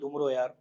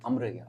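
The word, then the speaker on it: Amar Ayyar: What does that have to do with उमरो यार? I don't know if a lot of people know this, but उमरू यार की जो actual pronunciation है वो अमर यार है।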